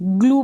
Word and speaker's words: glue: यहाँ पर क्या है, यू और ई आपको एंड में मिल रहा है, तो इसको हम क्या कर रहे हैं, इसको भी हम, ये जो यू के साथ ई लग जाएगा, इसको भी हम ऊ पढ़ेंगे।